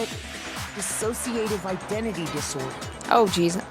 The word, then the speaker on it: dissociative: Dissociative identity disorder. Oh, geez. That's embarrassing. I was saying it wrong. I was saying disassociative.